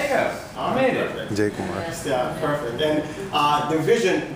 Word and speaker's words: Jai Kumar: I cannot pronounce the managing director's name. It's Jai Kumar? There you go. I made it. Jai Kumar.